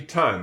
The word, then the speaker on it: time: In order to turn that I from an I into an I sound, you got to put a silent E on the end of it. Isn't that weird? It turns a I into an I to put a silent E here. Now, that does not spell tiny. That spells time.